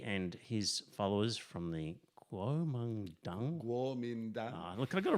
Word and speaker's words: Kuomintang: Kuomintang.